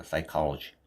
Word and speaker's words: psychology: P는 발음이 안 됩니다. 묵음입니다. 그래서 여기 보시면 S부터 나오죠. 그래서 psychology 이렇게 되겠죠. psychology 그렇죠.